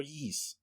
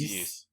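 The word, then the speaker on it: Ys: how to pronounce that this is pronounced or yeez i think it's yes yes i've yeah i've heard yeah i've heard it being pronounced yes so yeah yeast nine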